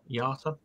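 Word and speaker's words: IATA: figures from global airline association um is it yata yeah yata could never pronounce that but yeah why not carried 128.9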